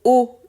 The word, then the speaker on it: haut: Les mots O, E-A-U et O, H-A-U-T sont des homophones, c'est-à-dire qu'ils se prononcent de la même manière.